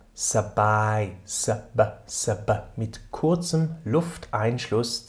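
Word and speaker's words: สบาย: ist einfach dieser Begriff, ausgesprochen wird, nämlich SB, gefolgt von I, SABAI, SABAI.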